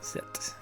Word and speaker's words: Zet: Ah, it's the Dutch pronunciation of Z. Oh, that's cool. Zet.